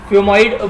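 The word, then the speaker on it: xiphoid: उसके बाद है आपका फ्यूमॉइड बोन, एक्स साइलेंट होता है बेसिकली, तो फ्यूमॉइड प्रोसेस है जो यहाँ पे हल्का सा क्या टेल जैसा आपको देखने को मिलता है, ठीक है।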